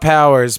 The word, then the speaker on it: PWRS: just so you know it's pwrs we're goingon to be called Powers but it's spelled PW wrs that's how spelled it's without the vows okay but Ray man